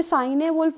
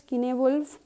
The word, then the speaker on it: Cynewulf: ये साइने वुल्फ और कुछ मत पढ़ना, इट्स किनेवुल्फ, the pronunciation is किनेवुल्फ एंड ही is known because of his unique signature.